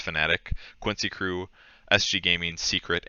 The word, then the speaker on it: Fnatic: to pick elephant fanatic it's spelled fanatic but it's fnatic quincy crew sg gaming